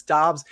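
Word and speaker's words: Doubs: just go with romeo most people say dubs i believe it's dobbs when i was on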